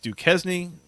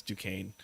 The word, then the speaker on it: Duquesne: Yeah, I have to do that to make sure that people know that I know how to pronounce it, but I also got to do the dad joke thing of pronouncing it the way that it's written in super white people English.